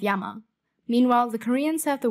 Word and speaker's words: 山: The Middle Chinese pronunciation was shan. This becomes shan in Chinese, san in Japanese, san in Korean, san in Cantonese, and sun in Vietnamese. The Japanese also have their own reading of yama.